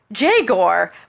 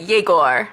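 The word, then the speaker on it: Jegor: I want to be like, I know, be like Jagor, but that's not. No, they pronounce it Yegor.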